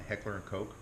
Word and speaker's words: Heckler & Koch: on my H K my Heckler & Koch which is how it's pronounced I used to be